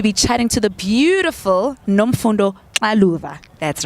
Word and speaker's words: Nomfundo Xaluva: I have the honor and the privilege to be chatting to the beautiful Nomfundo Xaluva.